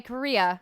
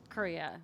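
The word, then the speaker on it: Corea: gosh uh Alexa Ray Korea everybody me I mispronounced her last name so wrong for so long it's like the country Korea you know I actually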